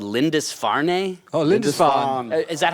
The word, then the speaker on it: Lindisfarne: Oh, Lindisfarne. Is that how you pronounce it? Lindisfarne, Lindisfarne?